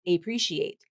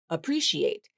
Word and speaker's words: appreciate: Uh uh that first syllable, it's the schwa sound. That's how this word is pronounced. It's not appreciate. A a appreciate. That's not the pronunciation. It's uh uh appreciate.